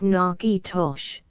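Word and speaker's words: Natchitoches: If it would been me, Miss F, 1, pronounced Nakitosh.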